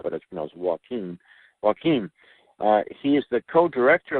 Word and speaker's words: Joaquin: our speakers bureau and walking Fernandez nolock can pronounce that first name is Jo a qu infl spell but it smells Joaquin Joaquin he is the co-director of the documentary